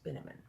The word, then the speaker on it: Binamon: margaret darling this is mr morris binamon rhymes with cinnamon he said he said